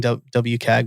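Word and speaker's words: WCAG: um you mentioned wikkag i will say you're your way i was always saying wwk but wickag is probably more right because you're saying you're pronouncing all the letters instead of like singling one out whatever um and i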